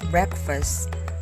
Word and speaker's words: breakfast: not in shepherd the first syllable of breakfast does not sound like break folk rhymes with poke